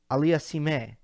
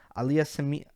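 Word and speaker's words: Auger-Aliassime: But then it's like Aliassime or something like that.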